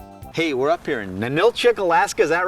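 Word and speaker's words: Ninilchik: with Terry Wickstrom hey we're up here in Manila chick Alaska is that right John all right you're pronouncing it right with John Baker of fish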